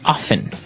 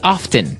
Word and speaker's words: often: Now, with pronunciation, some people like to pronounce often, right? They kind of leave out the strong T sound. Well, other people say often.